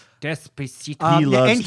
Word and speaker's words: Despacito: Desposito. Yeah, he does that. Matt, you said it wrong. I did say it wrong. Well, Despacito.